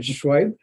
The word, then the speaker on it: Shoaib: We're absolutely delighted today to have, I'm going to pronounce it wrong again, Shoaib. Yes. Shoaib. I think Randall and I were pronouncing his name incorrectly.